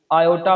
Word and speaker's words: iota: आयोटा पढ़ना है इसको बच्चों। ये आई नहीं है, ठीक है? ABC वाला आई नहीं है, ये आयोटा है।